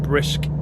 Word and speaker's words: BRSK: BRSK they're called, but they're called Brisk. Uh, that's how you pronounce it.